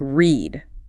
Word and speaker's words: read: Then you get the really weird ones like read. spelled the same r e a d but pronounced red in the past tricky or the